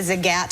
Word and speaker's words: Zagat: I first year out of college, I was a fact checker at the Zagat Food Guides, and that is how you pronounce it.